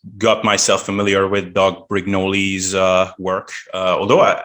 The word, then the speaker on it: Brignoli: myself familiar with doug brignoli's uh work uh although i i think the official pronunciation is doug brignol or brignol or something oh yeah